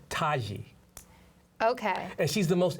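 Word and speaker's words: Tiki: Her name is Taji. I know, it's a Nubian thing. Taji. It's not phonetically, linguistically how it goes. It's spelled Right. T-I-K-I, but it's said Taji.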